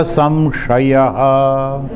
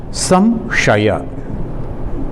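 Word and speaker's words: संशय: Antakale cha mameva smaran muktva kalevaran yah prayati samadbhavam yati nastatra samshayah. Here you see samshaya. One is the sa pronounced when the tongue, the tip of the tongue is touching the teeth.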